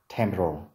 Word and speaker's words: temporal: Từ này trọng âm rơi vào âm tiết thứ nhất, temporal, temporal, temporal bone.